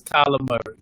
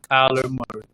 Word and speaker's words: Kyler Murray: Say the man name right. It's Kyler Murray. Say it right, Kyler Murray.